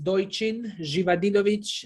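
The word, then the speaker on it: Dojčin Živadinović: más preámbulo, quiero dar la bienvenida al pastor Doishin Jivanovic. Doishin Jivadinovic. Lo dije mejor en esta oportunidad, ¿cierto, pastor? Sí, buenas tardes, feliz sábado, mundo latino. Mi nombre es Doichin Jivadinovic, es difícil para pronunciar, pero yo vengo de un país que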